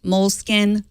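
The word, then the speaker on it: Moleskine: else before we realized they were in fact pronounced moleskin like the rodents the moleskin smart writing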